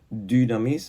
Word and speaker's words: dynamis: griego, pues la palabra dynamis, ¿vale? Digo dy porque es una Y que se pronuncia como una U francesa, ¿no?